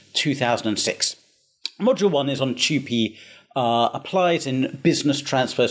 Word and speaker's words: TUPE: simple and practical terms now tupi often mispronounced 2p or tupe tupi is the acronym used to refer to the transfer of undertakings protection of employment regulations 2006.